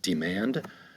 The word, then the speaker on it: demand: Number 10 is demand. To demand, we have 2 syllables. The accent is going to be over the second syllable, to demand.